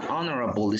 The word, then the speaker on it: honorable: Pero ahora, he is an honorable student. He is an honorable, ¿verdad? En este caso sí, porque tiene un sonido de vocal.